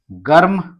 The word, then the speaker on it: गर्म: फिर और देखें आप गर्म, तो म के ऊपर रेफ की मात्रा, तो म के पहले आधा र उच्चारण।